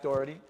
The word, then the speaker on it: Doherty: podcast today i have jack dougherty that's how i say it right yes on the podcast so